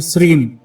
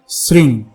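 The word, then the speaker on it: श्रीं: इसमें म और ग साइलेंट हो जाते हैं, यानी जो सही उच्चारण होगा वो होगा श्रृंग। ऊपर बिंदी है तो बाकी शब्द नाक से बोला जाता है।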